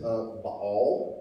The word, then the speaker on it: Baal: She worshipped Baal, that's how you pronounce it, and Asherah.